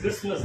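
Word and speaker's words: Christmas: கிறிஸ்மஸ்ன்னு சொல்லுவோம் இட் இஸ் கிறிஸ்மஸ் தான் இங்கயும் சைலெண்ட் வந்து டி இஸ் a silent word it இஸ் நாட் கிறிஸ்மஸ் இட் இஸ் கிறிஸ்மஸ் என்னங்க கிறிஸ்மஸ் ஓகே ஓகே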